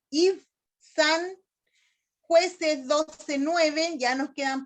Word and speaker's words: Ibzán: Ibzán es con Z, acento en la A. Ibzán, Jueces 12:9, ya nos quedan poquito.